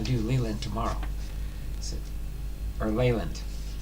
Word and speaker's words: Leyland: do Leland tomorrow or leand leand I think is how you say it is it Len l